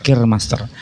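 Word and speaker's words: keurmaster: Keur Master tulisan, tapi bacanya Keur Master. Kirmaster.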